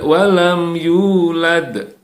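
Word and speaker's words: لم يولد: walam yulad lam yalid walam yulad ya tetap akhir dan ada huruf Dal yang harus kita pantulkan harus kita Qalqalah kan kemudian di ayat terakhir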